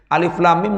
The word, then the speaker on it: Alif Lam Mim: Nah, cara baca dengung ya 2 harokat minimal, maksimal 3 harokat. Alif lam mim.